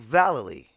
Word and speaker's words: Vallely: Rowley and the Mike but it's pronounced Jeff Rowley and Mike Vallely and hearing their interviews